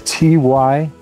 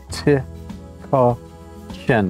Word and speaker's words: Tykocin: It's Tykocin. Tykocin. The C is pronounced like a CH.